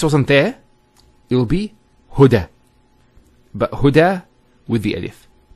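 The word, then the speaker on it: هدى: Now this is not actually a ya, it's an alif. It's called an alif maqsura, and it's exactly like an alif, the way it's pronounced. It's like a ya without the 2 dots. So we say huda.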